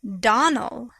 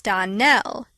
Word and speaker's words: Donnell: you pronounced our name donal now miss surely the correct pronunciation of our name is don nell accent on the last syllable i hope you remember